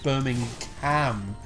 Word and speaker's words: Birmingham: And we were talking about this recently, actually, where she was saying, like, well, it's not the G they're actually overpronouncing, it's the ham part of it, so it's Birmingham.